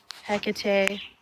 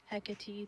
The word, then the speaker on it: Hecate: we do a little Hecate hekati depending on how you want to pronounce it a little bit eration